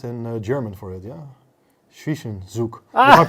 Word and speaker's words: Zwischenzug: Zwischenzug. If I pronounce correctly. Zwischenzug, yes.